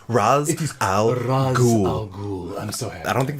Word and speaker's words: Ra's al Ghul: but in Star City they say Roz but it is Ra's al Ghul I'm so I don't